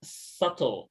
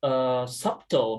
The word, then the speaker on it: subtle: For example, like in the word subtle, I thought that it was pronounced subtle, but turns out it's pronounced subtle. So yeah, it's kind of hard to recognize them actually.